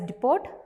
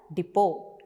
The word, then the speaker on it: depot: So here also you can see the letter T. We don't read it as depot, we have to read it as depot.